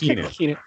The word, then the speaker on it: Keanu: It's pronounced Keanu.